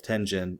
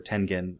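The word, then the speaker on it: Tengen: the the label of tenen or tenen uh I've heard it pronounced both ways I think both are you know acceptable is that uh you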